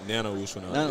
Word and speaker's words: Nana Owusu-Anane: just told me how you say your name, Nana Owusu-Anane. Yeah, Nana Owusu-Anane. Yes, okay, sir. so I'll give myself a B on that pronunciation.